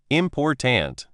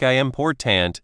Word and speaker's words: important: For example, in the word important, the stress is on the last part, important. If you stress the wrong part, like I important, it can sound a bit odd.